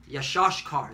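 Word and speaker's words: יִשָּׂשכָר: That's from the Argentinian to Chileans, and last but not least, all right, Issachar, which is so-called Mexicans. All right, Yashashkar is how you say it in Hebrew, which is he is hired.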